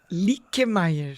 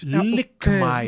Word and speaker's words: Luckemeier: Como é que a pronúncia correta que a sua família... Lickmeyer. Lickmeyer. Mas é porque eu li. É porque é com trema, né? O com trema. É o trema, mas é alemão? Alemão, é.